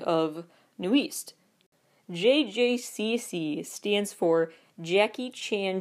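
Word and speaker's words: NU'EST: to work with here new East spelled that it looks like newest but it's new East Nu apostrophe EST stands for new established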